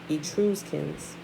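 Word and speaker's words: Etruscans: you true you true i'm probably pronouncing that wrong y'all you choose kins it's e-t-r-u-s-c-a-n-s e-true skins okay there were settlements on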